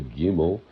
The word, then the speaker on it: gimel: If you took the word gamel, okay, listen, some people say gimel. Gamel, it's literally spelled with three letters, a gamel, a meme, and a lamed. Lamed, L-M-D, lamad, lamed. So where does that ah come from?